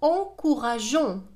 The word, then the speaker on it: encourageons: إذا G devant O قلنا تنطق go. Go comme gomme. لكن في هذه الحالة من الضروري أن نضيف E. لا voyelle E حتى تنطق لنا جون، حتى يبقى الفعل صحيحا.